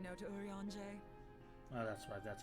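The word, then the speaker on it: Urianger: as if i could ever say no to urianje well that's why that's how you pronounce his name moon breeder is an accomplished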